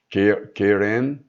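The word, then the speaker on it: קרן: Strong 07161, e que pode ser pronunciada como Keren, a segunda definição no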